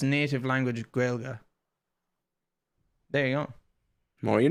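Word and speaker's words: Gaeilge: The Irish language is sometimes referred to as Gaelic, pronounced Gaelga, but it is not Gaelic.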